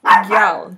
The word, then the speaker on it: gyal: Girl child is gyal. G Y A L. Like how you guys would say gal, it's gal, first with a Y there.